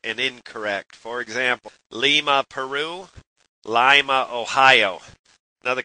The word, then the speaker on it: Lima: For example, Lima, Peru, Lima, Ohio.